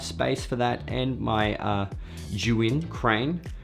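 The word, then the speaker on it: Zhiyun: for that and my juin crane shout-out to potato jet for saying juin if you didn't get the memo that is how you pronounce it you win like like you win now one of the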